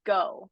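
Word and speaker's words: 五: the number five is go it's pronounced go in Japanese um so that's why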